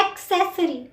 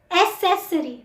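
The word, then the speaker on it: accessory: Number 26, इसको हम ज़्यादातर बोलते हैं एक्सेसरी, नहीं, एसेसरी। जो लेटर है उसकी वही प्रोनाउंसिएशन है, हम C की X प्रोनाउंसिएशन नहीं कर सकते, एसेसरी। एक्सेसरी कोई वर्ड नहीं होता, एसेसरी, एसेसरी।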